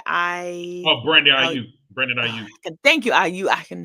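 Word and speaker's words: Aiyuk: number 11 Brandon I oh Brandon IU Brandon IU thank you IU I can never say it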